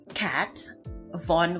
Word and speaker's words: Kat Von: name of the brand, is Kat Von, which is from in German, the devil. That's kind of how it's said for me. It's said as if it's cat from the devil.